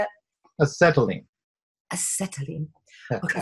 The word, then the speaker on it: acetylene: Acetylene.